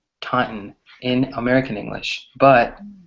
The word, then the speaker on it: Taunton: I grew up called Taunton right so it's pronounced Taunton Taunton in American English but British people just say Taunton or they actually pronounce the t's right another word is